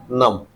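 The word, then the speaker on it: numb: नम। इसको क्या बोलेंगे? कॉम। तो आपने देखा एम के बाद अगर बी आ रहा है तो क्या हो जाएगा? साइलेंट और बोला कौन सा जाएगा? म बोला जाएगा।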